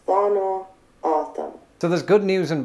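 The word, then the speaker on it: Tohono O'odham: The common pronunciation is Thono Autumn.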